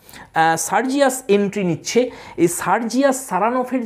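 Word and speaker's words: Saranoff: তো ইনি জোর দিচ্ছেন সেকেন্ড সিলেবেলটাই, দেখো লেখা আছে, হি প্রোনাউন্সেস the name with the stress on the second syllable, সারানফ।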